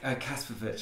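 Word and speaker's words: Kasprowicz: Kasparovic, that's how you pronounce it.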